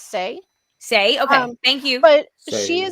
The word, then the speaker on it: Sai: I am very sorry I think it's pronounced say say okay thank you but